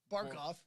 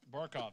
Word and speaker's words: Barkov: said it though because Ortega was going to pronounce it ichel yeah Alexander bark off barkov thank you Sam Bennett That's like one of